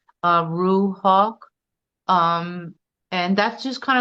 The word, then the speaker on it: Ruhawk: So it's Ruhawk and Ruhawk is spelled R U H A W K Z A R A M A R L E Y Ruhawk.